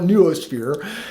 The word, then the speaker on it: noosphere: There's ways to pronounce that but I call it neuosphere.